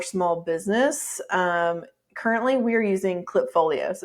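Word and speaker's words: Klipfolio: And then where we've landed for small business, currently we're using Clipfolio. So it's spelled with a K, KLIP, Clipfolio.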